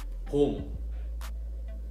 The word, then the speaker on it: 봄: Okay, so let's start with spring, which is pom. Pom. Okay, it's very simple, right? It's just one syllable.